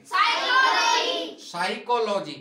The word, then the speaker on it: psychology: जैसे PSYCHOLOGY इसको क्या कहेंगे, साइकोलॉजी। क्या कहेंगे, साइकोलॉजी। इसमें पी से कुछ बोल रहा है क्या, नहीं। अर्थात पी कैसा है इसमें, साइलेंट।